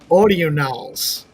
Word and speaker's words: Audionals: I say audionals because I pronounce things weird anyway, but it's audionals.